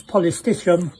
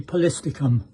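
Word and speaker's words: Polystichum: it in focus and everybody pronounces it as poti but it should be polistic this is AR arachnoides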